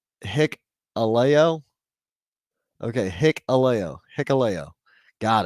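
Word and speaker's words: Hikuleo: same thing okay I didn't know that it's pronounced hick Alo okay hick Alo hicko got it hicko h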